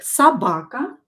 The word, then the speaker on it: собака: O here is in a weak position, so just memorize that собака is written with O. Собака. But we will pronounce it as A because it is not stressed.